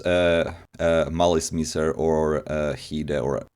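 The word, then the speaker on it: Malice Mizer: We decided Malice Miser is the most reasonable pronunciation. Yeah, we decided on on Malice Miser, because it's like a sort of like version of like Malice and Misery.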